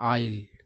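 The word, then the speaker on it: aisle: देखिए इसका उच्चारण होता है आईल।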